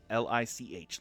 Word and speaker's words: lich: again Lich bleach glitch like lit like you lit a candle but with a CH at the end lit